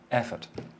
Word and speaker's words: effort: So you just go from the F basically to the T.